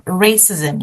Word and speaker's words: racism: Even the stress is on the first one. Racism.